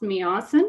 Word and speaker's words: Meewasin: three years for me watson valley authority pronounced meowson which is cree for beautiful we are super humbled